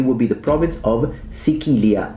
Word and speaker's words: Sicilia: Well, interestingly enough, it would be the province of Sicilia, as it's pronounced in classical Latin, Sicilia in ecclesiastical Latin, and Italian, Sicily.